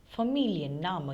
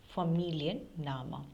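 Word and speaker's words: Familienname: surname is Mu now whenever you come across long words in German since there are many always split them then you would get the correct pronunciation for example here familian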